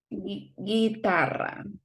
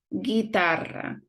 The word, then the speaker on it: guitarra: We don't pronounce the U. And if it is this combination, we're gonna ignore the sound of the U and we're gonna have a strong sound for the next vowel. So it will be guerra, guitarra, hamburguesa. Now, there are some letters